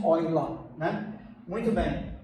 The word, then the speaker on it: Euler: Eu estou dizendo a pronúncia em português e em alemão mesmo, Euler, né?